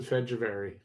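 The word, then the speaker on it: Fehérváry: I think you can pronounce it Fedjavari. Doesn't look like that, but I think that's how it's pronounced.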